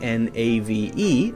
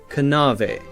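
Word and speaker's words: knave: in English were pronounced a word like Nave KN n a v e would have been pronounced something like canave canave now we have a silent k so we don't say k we say m no knowledge Nave knives we say just n and we also have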